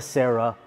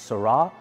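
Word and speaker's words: Sera: from Top Rank 1992 Toyota Sarah although the correct pronunciation is sarra we'll get into that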